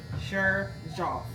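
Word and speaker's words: Xerjoff: The name of it's spelled like XER xeroff. This is it. XERJOF. But it's xeroff.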